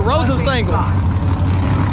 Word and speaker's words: Rosenstengel: That's how you say it, Rosenstengel.